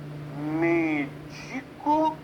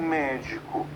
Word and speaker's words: médico: A palavra, por exemplo, medico ou médico? Há 2 pronúncias.